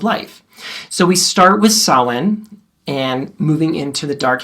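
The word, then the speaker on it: Samhain: It looks like samine, but it's gayla. It's pronounced sawin.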